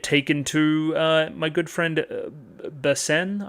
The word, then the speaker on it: Basen: From there, we get taken to my good friend Basen, I guess you would say, is how you would say his name.